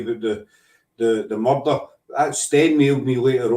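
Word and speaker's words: murda: It's the word murd, M-U-R-D-A. That's how we pronounce it up here. Instead of murder, you know.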